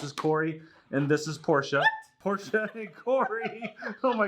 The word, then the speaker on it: Porsche: named after corvette and porsha is after porsche and how you actually pronounce it so what we need